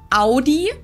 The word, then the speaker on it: Audi: one is AI most Americans that I know pronounce it like I just said it aie in German we say Audi Audi Audi and there's actually a funny story